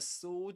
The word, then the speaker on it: sword: So this is sword which means that the this letter is silent. You don't pronounce it. This is s with a long o sound.